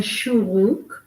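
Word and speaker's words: שורוק: The shuruk, which you can think of as a punch in the belly that makes you go. Okay, and it's spelled SHOO // SHOO /ROO-K. Sharuk.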